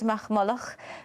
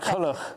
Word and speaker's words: MacCulloch: Professor Diarmuid MacMulloch, who is speaking in Oxford. MacCulloch. Not MacMulloch. MacCulloch, I'm so sorry.